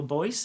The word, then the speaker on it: Boyce: Boyle. It was Frank Cottrell Boyce. Okay, cool. I just wanted to know I was pronouncing it correctly.